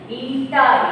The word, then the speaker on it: eta: That how you will have to pronounce it? Eta, ETA, right?